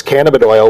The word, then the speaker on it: cannabidiol: And it's CBD means cannabidiol.